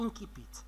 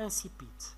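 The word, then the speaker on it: incipit: إذن هي في الأصل ديالها اللاتيني كتنطق إنكيبيت، وبالفرنسية كتنطق إنسيبيت، تلامد في المغرب، حنا في المغرب كنستعملو إنسيبيت تقريبا كلشي دون استثناء كنستعملو إنسيبيت. فرنسا كيستعملو بزاف إنكيبيت داكوغ. دونك فبالتالي عفاكم إلا لقيتي راه بجوج جوج الانواع ديال النطق بجوج صحاح، انسيبيت صحيحه وانكيبيت صحيحه داكوغ.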